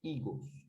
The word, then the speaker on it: higos: Vejam que a palavra higos, em espanhol, ela começa com HI, certo? Ela tem som de I, porque o H do espanhol ele é mudo, certo?